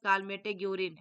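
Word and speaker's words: Calmette-Guérin: है इसमें dear bacillus कालमे जरिन राइट आंसर किसम होगा डियर ऑप्शन बी होगा देख लीजिए बेसिलस कालमे जरिन ठीक है बेसिलस कालमे गूरिन ऐसा पढ़ाता है डियर ये तो आपको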